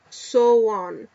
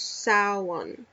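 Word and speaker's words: Samhain: on Sam ha pronounced soan where so was where so rhymes with cow so it has to be sa so it's saan saan it's apparently the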